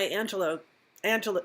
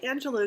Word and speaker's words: Angelou: So I was listening to my Angelo. Well, you know, I say Angelou because that's how it's spelled, but it sounds like she's saying Angelo every time she says, so I'll have to figure that out.